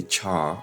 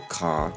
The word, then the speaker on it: char: so we now have the char or the car depends on how you describe how you pronounce it but a char